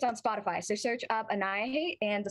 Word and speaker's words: Annihihate: spotify so search up anaya hate and the spelling of it is right behind me it's like annihilate but instead of the last l you have the h and i know how